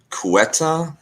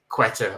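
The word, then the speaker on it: Ceuta: enclaves yeah uh um cueta is is one of them uh I I mean I know how it's spelled but I didn't know how to spell said until you just said it I would have said like quetta or something yeah oh oh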